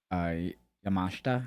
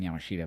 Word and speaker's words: Yamashita: The Jamie Hayter Miyu Yamashita, I think is how you say it. I was saying Yamashita, but then I heard the commentary and I was like, I'm saying it wrong.